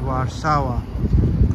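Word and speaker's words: Warszawa: many places around in warsawa so warsawa is basically basically the pronunciation for Warsaw I learned it when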